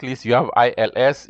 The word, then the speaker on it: ils: And then last but not least, you have ILS. You pronounce ILS, il also. E-L-L-E-S also is pronounced L.